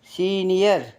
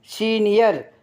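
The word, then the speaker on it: senior: உச்சரிப்பீங்க யா கமிலியன்னா பச்சவந்தி சீனியர் சீனியர் அந்த யாவுக்கு என்ன உச்சரிப்பீங்க அந்த ஓ வருது பாத்தீங்களா சீனியர்னா மூத்தவர் வரையல வரைய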